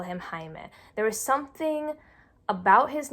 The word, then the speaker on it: Jaime: not want to say they saw it written as j ai II and for them in English that means you have to say as Jamie I think about other